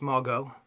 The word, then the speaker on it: Margot: It's Margot. The T is silent, like Django in his D. So yeah, Margot Robbie.